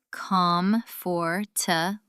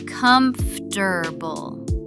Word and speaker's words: comfortable: Well, if you sound it out from the spelling, you'd think it's comfortable. 4 syllables, very logical. Right, that's what the spelling suggests. But Americans actually say comfortable. 3 syllables. That middle or basically vanishes.